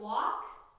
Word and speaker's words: walk: practice of that it words like walk chalk and talk we have the L that is silent so that a is still going to make that sound it's not a double